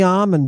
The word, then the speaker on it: Ammon: Everyone, we've been speaking with Dr. Ammon. Did I say it right? Yeah, no, you got it. You got it. Just call me Ammon, baby.